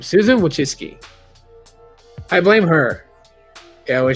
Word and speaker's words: Wojcicki: Wait, Susan Wojcicki. That's how you say her name. Thank you, Google, for the breakdown of her pronunciation of her name. Susan Wojcicki.